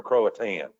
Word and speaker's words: Croatan: not pronouncing that right is it croton or croatan okay we'll have to just get us three syllables okay that's qualitative thank